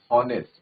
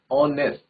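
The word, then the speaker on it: honest: हम during the pronunciation we डू नॉट से हॉनेस्ट, वी say that ऑनेस्ट। ठीक है, तो साउंड किसकी आ रही है, ऑनेस्ट की, ओ की साउंड आ रही है, ओ इज a vowel, that's why वी यूज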